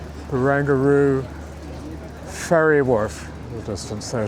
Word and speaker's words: Barangaroo: this is all the barangaroo bangaru that's how to pronounce it bangaroo Ferry Worf the distance